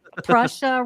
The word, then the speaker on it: Prussia: And I got to tell you, when he said King of Prussia, I was like, Prussia rhymes with Russia.